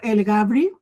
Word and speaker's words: Elgabry: ¿Cómo se pronuncia tu apellido? El Gabri.